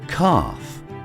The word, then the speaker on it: calf: Or in calm, palm, or calf. Same thing with half, chalk, talk, and folk. Even salmon contains a silent L.